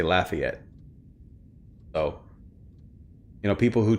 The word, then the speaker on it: Lafayette: New Orleans and uh we don't say Lafayette, we say Lafayette.